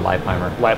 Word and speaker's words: Levi Leipheimer: Texas no Makani stage Levi Leipheimer it's like they say bleep how are you Audio is hot before that it's not hot they know how to pronounce my name it's actually live my life I'm yeah they will